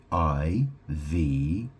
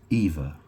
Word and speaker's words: Iva: She's called Eva, and that name is spelled I-V-A. You might wonder why it's not pronounced Iva. I don't know. They pronounce it Eva.